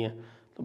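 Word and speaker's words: junta: बना था और म्यानमार हुता के साथ में पैक्ट हुआ था म्यानमार हुता जे यू एनटी लिखते हैं अंग्रेजी में लेकिन प्रोनाउंस करते हैं उसको हुता और वो होता है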